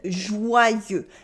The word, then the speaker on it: joyeux: You might have noticed by now the pronunciation of the French Y in joyeux. Let's take a moment to dive into that. In French, the Y is called un Y, or Greek I, literally, Y.